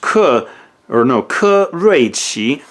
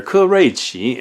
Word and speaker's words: Ke Rui Qi: It's pronounced Ke Rui Qi. I hope I'm getting the tones right there. Ke Rui Qi.